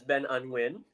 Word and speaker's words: Ben Anh Nguyen: Technically, um it's supposed to be pronounced Win with the accent, but because like I don't I don't really expect anyone to be able to say that unless they know Vietnamese. Um I'm usually fine with people just saying Ben Hung Win like you're saying.